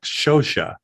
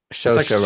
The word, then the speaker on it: Saoirse: It's a weird pronunciation because it's like Shosha. Saoirse Ronan.